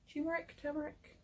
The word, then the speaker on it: turmeric: Turmeric. It's got an R in it.